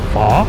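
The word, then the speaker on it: Phở: So it pronounces {fa}, not {fo} I should be on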